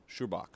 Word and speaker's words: Schubach: Let me make sure I'm pronouncing your last name right, Mark. Schubach. Yeah, Schubach's right. Yes.